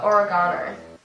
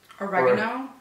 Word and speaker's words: oregano: go H they go what do you guys say for oregano oregano that is wrong Esky it's okay it's